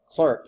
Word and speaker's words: Clerk: here CL James Clark clerk it's really it looks like it's Clark but it's pronounced Clerk Maxwell named they named